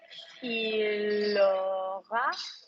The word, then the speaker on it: aura: The future block for the verb to have is or. Or. Oh. Yeah? Like Luke or Brooklyn, but or. How do you say he will have? Il aura.